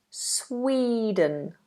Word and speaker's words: Sweden: and we have Sweden make sure there a long e sound in the middle Sweden Sweden I've never been